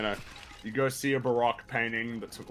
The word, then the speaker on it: Baroque: then just Is a that how you fucking pronounce it? Baroque, yeah.